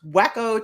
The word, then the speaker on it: Waco: no pink joggers wacko it's pronounced wacko Texas I don't doubt that